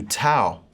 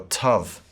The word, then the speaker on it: tau: Next we come to tau, or tav.